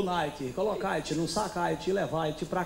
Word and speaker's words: Nike: Porra, tá de caô, que isso, que nick, se escreve nick. Mas aqui no Rio, a gente chama de Nike. Repita comigo, Nike.